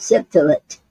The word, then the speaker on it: Septolet: Okay, now today's poetic form is called septillet, and it's spelled Septolet.